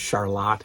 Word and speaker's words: Charlotte: Charlotte Furniture, and yes, it is pronounced Charlotte here.